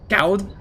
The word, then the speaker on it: goud: That's pronounced. Cout with a hard T.